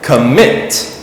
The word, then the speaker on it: commit: The stress is on the second part. We say commit.